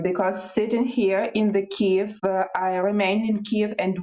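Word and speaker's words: Kyiv: live now Oksana um Keith the correct correct pronunciation cave exactly hi that's what we'll do that's what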